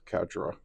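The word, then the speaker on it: Quatre: make that quite difficult okay so put little quatra in there or Catra Catra his name is spelled weird so sometimes I get it mispronounced but it's Katra Catra robara winner yeah and put that together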